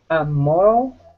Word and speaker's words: moral: Moral. Okay. And the stress is? And the first syllable.